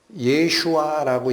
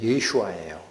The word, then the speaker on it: 예슈아: 예슈아라고 읽힙니다. 예슈아가 무슨 단어죠? 우리는 번역 성경만 읽어서 한글에서는 예수라고 하죠. 히브리어로 읽으면 예슈아예요.